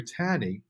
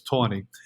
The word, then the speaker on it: Taney: So it wasn't until the third Treasury Secretary, Roger Taney, I might be mispronouncing that, I think it's Tawney, was willing to remove the funds, that Jackson was victorious in his bank war.